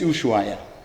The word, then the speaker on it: Ushuaia: Ah, in Argentina, Ushuaia, you mean? The city of departure, yeah? Yes. Yeah, okay, got it. Yeah, it's Ushuaia Okay.